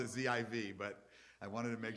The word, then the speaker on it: Ziv: Okay, because they spell it Z-E-V-E, and I would have spelled it Z-I-V, but I wanted to make sure I had it right.